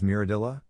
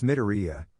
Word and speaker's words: Midoriya: Hey, that new kid that was there with us, his name was Miradilla, right? Sakura just shakes her head. Sakura, you said it wrong, idiot, it's Midoriya, even though his name is Izuku.